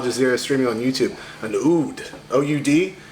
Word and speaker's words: oud: An oud, O-U-D.